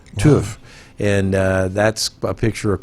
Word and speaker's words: Tough: There's a town of Tough in Scotland. They pronounce it Tuff.